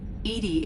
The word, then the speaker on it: EDI: a specific inquiry why are you named edie edie is the phonetic pronunciation of e d that is an acronym